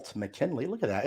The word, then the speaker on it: McKinley: is McKinley inspiration your last name is spelled m-c-k-i-n-l-e-y so McKinley go check them out